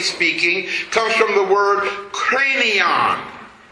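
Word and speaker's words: Kranion: The word Calvary comes from the root word or etmologically speaking comes from the word cranon. It's spelled K R A N I O N.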